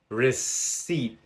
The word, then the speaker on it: receipt: There are also words spelled with the letter P that are unvoiced. For example, pneu monia. Pneumonia. Re ceipt.